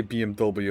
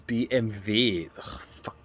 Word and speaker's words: BMW: Like you say BMW and just like yeah it's BMW. Yeah, whatever. Yeah, W is it's English cuz it's three letters, right? And not BM because in German it's BMV.